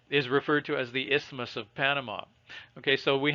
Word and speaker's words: isthmus: And the piece in the middle that's holding them together is called an isthmus. The TH is silent. It's called an isthmus.